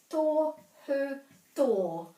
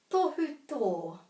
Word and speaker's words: tohu tō: Luckily we know it's got a macron at the end, so it's tohu tō, tohu tō.